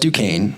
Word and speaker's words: Duquesne: the case kick us off we know it's pronounced duquesne we know it's located in pittsburgh but here